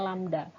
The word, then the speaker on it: lambda: Lambang seperti ini dibacanya lambda.